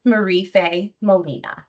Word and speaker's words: Marife Molina: Introducing Marife Molina.